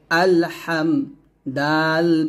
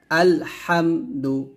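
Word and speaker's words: الحمد: হা মিম জবর হাম আল হাম দাল পেশ দু আলহামদু আমরা এখন অনেকে বলি আলহামদু এরকম ভাবে মিমে গুণনা করি তো গুণনা করা যাবে না স্পষ্ট করে পড়তে হবে আলহামদু এরকম আলহামদু লাম লামের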